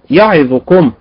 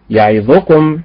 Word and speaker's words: يعظكم: بالنبر على حركة الراء، يعظكم بالنبر على حركة الياء، وهكذا.